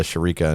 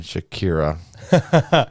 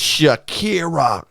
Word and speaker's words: Shakira: J-Lo and Shakira. Sharika, huh? Sharika, dude, yeah, that's what I thought her pronounce it. How to pronounce it when I was a kid.